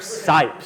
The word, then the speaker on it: Cipe: your name again cipe uh scythe is how it's pronounced but it's something that's